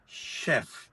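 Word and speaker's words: chef: सी एच ई एफ यहां सीच की जो प्रोनंसिएशन है वह श है शेफ शेफ शेफ जो होता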